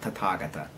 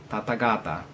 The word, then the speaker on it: Tathagata: term Tathagata, or as they often call it, Tathagata. The term Tathagata, or pronounced Tathagata, in the common nonsensical definition by ignorant modern so-called Buddhism is meant thus come one, or thus gone one.